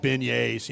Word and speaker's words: beignets: And funnel cakes are like beignets, It's just all the Yeah, same thing they're to me.